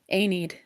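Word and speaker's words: Aeneid: Anid.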